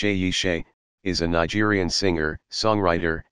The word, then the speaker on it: Seyi Shay: 1985 comma five six professionally known as saishei pronounced yishay is a nigerian singer